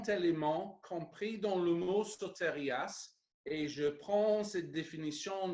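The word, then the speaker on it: σωτηρίας: Le mot est donc prononcé sotérias, ça c'est le mot grec pour salut.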